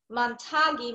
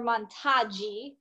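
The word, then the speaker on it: Matangi: out through the nose so the actual mudra i don't want to mispronounce it is montagi mudra or montagi mudra in india i watched a video they did say matagi mudra so if you want to be truly authentic that's how you do it so you're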